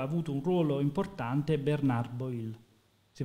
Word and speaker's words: Boil: nelle trattative aveva avuto un ruolo importante Bernard boil si pronuncia così Sì boil sì che era chiaramente un un minimo questo